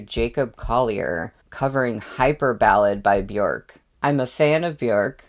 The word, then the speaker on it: Björk: her name right because I think it's not Björk. It's like Björk, more like an I sound, but I could still be saying it wrong. I just know that it's not like Bjork.